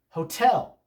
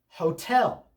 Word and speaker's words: hotel: The second syllable of the word is naturally stressed.